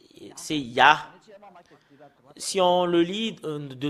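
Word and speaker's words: יה: Les Juifs l'ont prononcé en Ya. Et ce que nous voyons sur l'écran, c'est Ya. Comment on le prononce? C'est I-A-H. C'est là, c'est comme ça qu'on le prononce.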